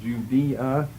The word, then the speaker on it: Judea: Judea, or the AE together is pronounced as an E.